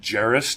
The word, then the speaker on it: Gerris: calm ger are is you can pronounce it Jerris to because i love that